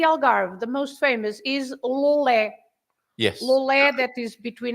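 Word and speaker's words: Loulé: Lolé, it has an accent at the end, so Lolé.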